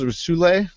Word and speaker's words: Soule: With is it Charles Soule? Soul. So we just pronounce Soul.